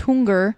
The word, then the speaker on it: Hunger: should be pronounced Hunger. Hunger. Okay. There's no umlauts on there.